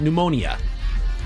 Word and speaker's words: pneumonia: The P is silent.